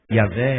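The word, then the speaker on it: Yahweh: Yazé é a pronúncia mais provável do nome de Deus.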